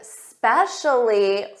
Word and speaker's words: specially: And I know some students they add an uh at the front of s's. So when you try to say specially, make sure you don't add that uh and make it sound like especially.